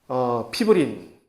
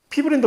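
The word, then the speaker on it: fibrin: 그래서 처음으로 우리가 자이모겐의 예로서 펩시노겐이 펩신으로 변화되는 그런 형태를 우리가 여기서 본 것이고, 나중에 그 다음 장에 하는 혈액순환에서, 혈액응고 과정에서 피브린, 파이브린이라고 얘기하는 피브린이 사실은 혈액응고를 종결을 하는 단백질인데, 그것이 원래 이러한 비활성화된 상태로 있어는 피브리노겐이라고 이름이 나중에 나올 거예요.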